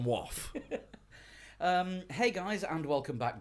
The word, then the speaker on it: Waugh: So if you're reading it wrong, it could be pronounced Wolf. Waff.